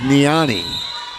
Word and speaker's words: Nani: In Atlanta, we were told it was Nani. It is spelled N A N I. And so I think it said Nani.